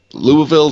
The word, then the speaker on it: Louisville: did mer I'm sorry I can't pronounce Louisville so it's Louisville live con is nerd louisvil louisvil so it's almost like the eyes should be on the opposite side of the V right and okay the hell